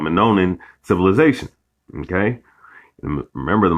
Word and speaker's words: Minoan: Some of the earliest depictions of dreadlocks date as far back as 3,600 years to the Minoan, all right, Slaki, I was pronouncing it wrong, Minoan civilization, okay?